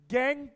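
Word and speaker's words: gangue: Spelling है गैंग यू है ना? गैंग ही प्रोनाउंस करते हैं इसको बाय रिमूविंग गैंग पार्टिकल्स।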